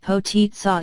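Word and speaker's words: potica: for the first lady poo pronounced potitsa is a Slovenian dessert which the pontiff reportedly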